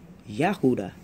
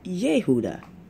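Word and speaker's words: יהודה: So let's say you have the Hebrew pronunciation for Judah, which is Yahuda. And then you have the Aramaic pronunciation, which is Yehuda. So you have that E in there instead of the A, but that's just regional.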